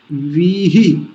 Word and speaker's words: वीहि: रराणो, राणो, रराणो, वीहि, वीहि, बड़ी की मात्रा फिर छोटी की मात्रा, तो पहला लंबा खींचेंगे दूसरे वाले को जल्दी बोलेंगे, वीहि।